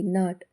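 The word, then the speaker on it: knot: ಆಗಿ ಹೆಚ್ ಸೈಲೆಂಟ್ ಆಗಿದೆ ಕೆಸೈಲೆ ಆಗಿರುವಂತ ಪದಗಳು ಕೆಎನ್ ಓಸಿ ಕೆ ನಾಕ್ ಕೆಎನ್ ಐಎಫ್ E knife ಕೆಎನ್ ಓಟಿ ನಾಟ್ ನಾಕ್ ಅಂದ್ರೆ ಬಡಿ ಅಥವಾ ತಟ್ಟುವುದು ನೈಫ್ ಅಂದ್ರೆ ಚಾಕು ನಾಟ್ ಅಂದ್ರೆ ಗಂಟು ಇವಿಷ್ಟರಲ್ಲೂ ಕಾಮನ್ ಆಗಿ ಕೆ ಸೈಲೆಂಟ್ ಆಗಿದೆ ಎಲ್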